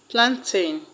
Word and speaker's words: plantain: The word plantain has its stress on plan.